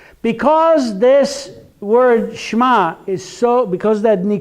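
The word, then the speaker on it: שמע: have it there if it's Sh'ma it's not Shaima it's not Shaima it is Sh'ma so that's why I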